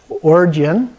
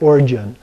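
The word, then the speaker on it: Orgyen: So the usual way would be Oregon, a little bit like the state Oregon, but it's not. But it has the hard G sound, but a lot of people also pronounce it Origin. So either way works.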